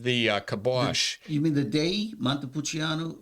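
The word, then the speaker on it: Dei: wine that's on the it's day d e i i day pronounced day so for the same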